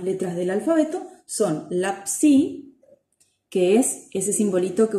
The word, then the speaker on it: psi: de los psicólogos, y es una consonante doble también, involucra el sonido P y el sonido S, ¿sí?